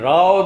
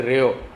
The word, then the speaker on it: Rao: And Rao they can't pronounce, they say Rio.